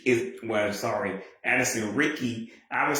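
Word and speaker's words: Addison Riecke: Ricky, but I'm like, how would I know that Riecke is pronounced the same way as Ricky?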